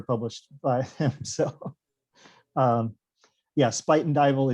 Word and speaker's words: Spuyten Duyvil: So yeah, Spuyten Duyvil, it's Dutch, I believe, for spitting devil, which is a neighborhood up in Harlem on the Hudson River.